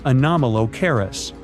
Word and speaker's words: Anomalocaris: The name is a bit tricky to pronounce, so I'm not going to. Okay, it's Anomalocaris, but it just literally means unusual shrimp.